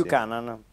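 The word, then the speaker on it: Buchanan: dentro non ho ancora capito come si pronuncia bucanan buan bucanan è canadese Sì sì sì bucanan quindi non buon come è le Rimembranze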